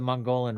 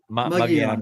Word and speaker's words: Mogollon: So earlier we said the Mongolian Rim, or I forget you pronounced it right. Mogollon Rim.